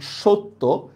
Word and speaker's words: সত্য: দেখেন সত্য, এখানে সটা ওকার হয়ে যাচ্ছে, ঠিক না? এখানে সটা ওকার হয়ে যাচ্ছে, সত্য।